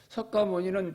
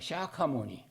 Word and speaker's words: 샤카모니: 석가모니는 중국식 발음이고 원래 산스크트리어 부족 영어로는 샤카모니입니다. 샤카모니.